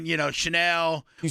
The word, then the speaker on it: Chanel: You know, Chanel.